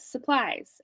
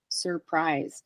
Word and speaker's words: surprise: say it yeah because a lot of people say it like how they say supplies surprise supplies and supplies doesn't have an r in the beginning so surprise so these are some of